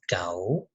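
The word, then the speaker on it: 狗: ma ma ma and dog in Chinese is cow cow is tone - we will pronounce it like cow cow cow cow and what is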